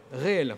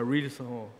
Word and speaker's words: réel: Réel, voilà. Des fois, avec les lettres, on ne sait jamais. Donc c'est réel, c'est pas real, c'est réel.